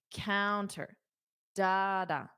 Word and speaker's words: counter: is not counter da it's da counter da counter that's why the guideline is the stress is on the first sound for nouns counter dada don't worry I have